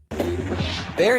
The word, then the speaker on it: Baer: market did you catch his name is uh bear but it's spelled b-a-e-r when I was listening